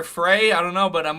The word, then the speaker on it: Frey: 199 billion dollars of reparations to my bank account right now, They say his name is Mayor Fry. I thought it was Mayor Frey.